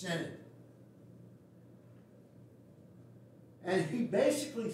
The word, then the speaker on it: synod: to pronounce our name it's not synod it's in it and he basically says